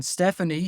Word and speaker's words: Stephanie: But then Stephanie has a PH in it, and that's an F.